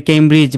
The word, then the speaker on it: Cambridge: ডি যুক্ত আমরা কি বলি? কেমব্রিজ, মানে ডিটাকে বাদ দিয়ে বলি। দেখেন, CAMBRIG, কেমব্রিজ তো এমনিতেই হয়ে গেছে, তাহলে এই ডি এর প্রনাউন্স হয় না, কিন্তু আমাদেরকে ডিটাকে লিখতে হবে।